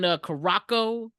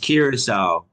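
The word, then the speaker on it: Curaçao: So, Alec, you were out in Caraco. You were chilling out there for a week as we It's missed you. pronounced Curacao. Oh, Yes, Matt. damn, I Curacao.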